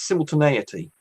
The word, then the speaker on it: simultaneity: I've worked out how to pronounce that, by the way. It's simultaneity.